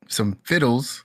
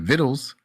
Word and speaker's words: vittles: And he came over, for some fiddles. Is that how you say it? Vittles after the excuse For me, after some the vittles.